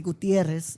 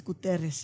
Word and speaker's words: Guterres: And obviously, I wasn't going to say Gutierrez, but it's Guterres, yeah. All right, you see, so I got it right. I got it right on the page. I knew how to say it. But that was you just have to scratch the R a little bit more, but Guterres.